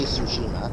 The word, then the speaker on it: Tsushima: Logan Tsushima, that's how you pronounce it. Tsushima. This is going to take me a while, I swear. Don't get the T is silent, so you just say Tsushima.